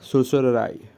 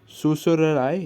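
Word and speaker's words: certiorari: देखा क्या बोला? सुसुरराय, ठीक है, सुसुरराय इसका प्रोनाउंसिएशन है, तो ये वाला याद रखना।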